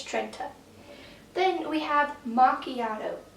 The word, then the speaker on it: Trenta: so first of all it's Trenta not Trenta Trent trena Trina it's Trenta okay I'm just going to leave it there not going to go into any more detail it's Trenta then we have machiato